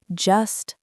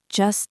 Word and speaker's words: just: Pay attention to the soft T sound at the end of just. Native speakers almost never pronounce the hard T when it is followed by the word the. It is not just the usual. It sounds more like just the usual. The words glide together seamlessly.